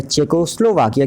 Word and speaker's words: Czechoslovakia: तो यहाँ पर चेकोस्लोवाकिया की स्पेलिंग आप बहुत ध्यान से देख लीजिए, CZECHOSLOVAKIA। तो इसको हम क्या पढ़ेंगे, चेकोस्लोवाकिया पढ़ेंगे, ये भी एक कंट्री है।